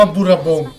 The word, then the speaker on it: Bourbon: มิโฮโนะ บูบอ นะ ครับ อ่าน ว่า อะไร วะ อ๋อ อ่าน ว่า บูรบง นะ ครับ แต่ ว่า คลิป นี้ ผม ขอ อนุญาต อ่าน บูบอ แล้ว กัน นะ ครับ สับ